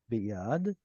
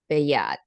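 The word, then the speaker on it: בְּיָד: Yeah, you all have noticed so far that I don't split up an audible schwa. I throw it into the next syllable, right? So instead of b yad, I say biyad. Beyad.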